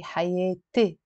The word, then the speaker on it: حياتي: But in the Lebanese dialect, if I want to say my life, I say حياتي as a E.